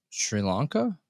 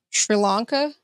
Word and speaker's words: Sri Lanka: you know how to say that country what Sri Lanka Sri Lanka okay yep so there is the 35-year-old mother